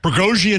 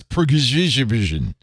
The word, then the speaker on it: Prigozhin: Oh, I didn't know that's how you pronounce Prigozhin. You pronounce that Prigozhin? Prigozhin. I put the extra syllable.